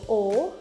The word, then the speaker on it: ho: Jadi kayak O itu, io O, jadi tulisannya tuh pakai H sebenarnya 2 kata, HO, tapi dibacanya O. Io O, H-nya tuh agak sedikit silent ya.